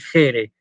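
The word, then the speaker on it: χαῖρε: En vez de decir Jaire, tiene que decir Jere, ¿sí?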